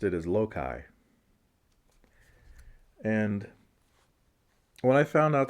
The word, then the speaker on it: Loki: When I was a kid, I pronounced it as Loki. And when I found out that it was Loki, I thought that was so ridiculous. Because Loki sounded hokey. Loki sounded jokey.